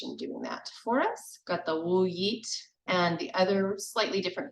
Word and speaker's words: Wiyot: Wiyot, and the other slightly different pronunciation, same meaning. Elsie Bartos said it. Wiyot.